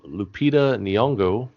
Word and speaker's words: Lupita Nyong'o: starring josh gad alexander england and main star lupita nyong'o that's how you say it it's miss caroline